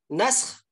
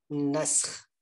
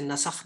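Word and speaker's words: نسخ: बात यह है कि आपने इसको क्या प्रोनाउंस करना है, नस्ख। बाद हजात इसे नसख भी कहते हैं जो कि गलत है, तो इसे आपने नसख नहीं कहना, नस्ख कहना है।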